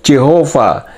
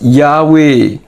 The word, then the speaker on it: Yahweh: the hebrew tetragramaton yhw traditionally pronounce Jehova known to be correctly vocalized yahwe meril F angers tahun